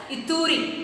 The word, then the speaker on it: Ituri: Okay, the word you have to pronounce it as Ituri.